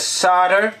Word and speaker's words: solder: It's pronounced sotter. Sotter! That sounded a little bit Irish then. Bit of solder. Solder? I got solder. I've been watching too much 8-bit guy. Solder? Solder. Boom.